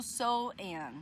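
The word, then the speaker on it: Samhain: vi na internet com uma pronúncia sendo So-an, que é quando os mortos vinham pra terra.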